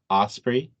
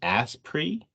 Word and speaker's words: osprey: the captain of the osprey announced can't pronounce Osprey he pronounces an ass pre and that's hilarious movie